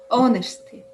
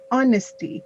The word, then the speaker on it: honesty: reading elena the word do not try to pronounce the h yeah that h is silent honesty honesty honesty yeah like awesome